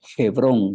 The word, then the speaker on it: Hebrón: la ciudad de hebrón en el hebreo se lee hebrón se le da como